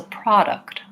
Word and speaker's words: product: It's not a product or a product. It's a product in American English.